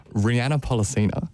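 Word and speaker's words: Rhianna Pollicina: Rihanna Pollicina. Thank you. Which is, I believe, how she pronounces it.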